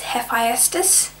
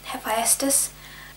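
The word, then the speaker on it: Hephaestus: one that I recently just learned how to pronounce is hephestus which is a Greek god of what's this like machinery and stuff I don't know what he specifically is a God for but still hephestus three what is your favorite what is a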